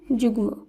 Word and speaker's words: যুগ্ম: শব্দগুলির উচ্চারণ একই হবে তাই যুগ্ম এই শব্দের শুদ্ধ উচ্চারণ যুগ্ম বাগ্মি এর শুদ্ধ উচ্চারণ বাগ্মি যুগ্ম বাগমি এই দুটি শব্দ রয়েছে গ এর সঙ্গে ম যুক্ত তাই এই সূত্র অনুসারে গ এর সঙ্গে যখন ম যুক্ত থাকবে তখন শব্দটির উচ্চারণ একই হবে এরপর রয়েছে বাঙময় এখানে